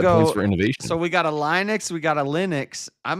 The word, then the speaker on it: Linux: I'm going to go So, we got a Linux, we got a Linux. I'm going to go Linux. Linux. I go with what the creator of the thing actually says it is.